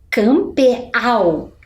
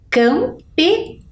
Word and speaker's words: campeão: do Tio vamos ver lá embaixo campeau existe campeau não existe mas quando a gente coloca o sinal gráfico a gente consegue fazer a leitura e interpretação campeão olha lá o o